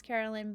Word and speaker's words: Caroline: I'll tell you because my name is Carolyn, but it's spelled Caroline.